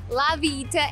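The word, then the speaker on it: La Villita: next we're off to little village or la vieta as the locals say now this is where you come for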